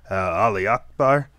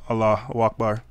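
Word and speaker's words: Allahu Akbar: oh my gosh really you can't even say it right is that how much of this it is that how much we're hicking we can't even say out Allah Akbar we have to say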